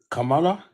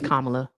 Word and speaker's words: Kamala: Kamala. Kamla. Crooked. Kamla. It's Kamla. Hey Mr. Tai, it's Kamla.